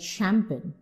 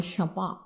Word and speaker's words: champagne: But when you are using a word like champagne or champagne, then it is visibly a later borrowing because you are pronouncing ch as sh.